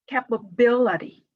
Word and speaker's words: capability: right before shin or jin television international next capability the stress is on the syllable before 80 right capability ability university diminish